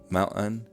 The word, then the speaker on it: mountain: General American pronunciation releases glottal stops nasally. They sound like this: mitten, Layton, mountain, beaten. What people hear that is different in Utah is that glottal stops are released orally. They sound like this: mitten, Layton, mountain, beaten. Essentially, the oral release puts a vowel between the glottal stop and the N sound.